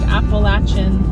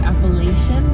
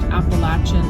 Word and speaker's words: Appalachian: And it is pronounced Appalachin.